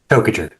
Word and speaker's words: Tokajer: Tokajer. Oh, just like it's spelled.